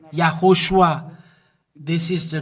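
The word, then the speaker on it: יההושֻׁע: YAHOSHUA is his name, and this is the way to pronounce it.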